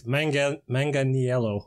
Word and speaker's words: Manganiello: Actually, I mispronounced his name. It's Manganiello, but it's Italian.